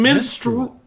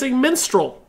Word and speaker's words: minstrel: see you guys you guys are getting menstrual menstrual there's a little bit of a you interval menstrual see that's not what I'm saying minstrel there's no you in my pronunciation I will fight you